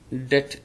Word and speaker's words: debt: Det B is silent, very important.